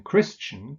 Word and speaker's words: Christian: there's no T here but in Christian crystally there is christen Tolkien no T Christian pronounced with a T then there are a